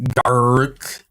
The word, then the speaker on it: Garruk: Garruk. Gark. It took me a long time to figure out how to say his name. I never really understood it. Garruk. Yeah, it's like Garrick.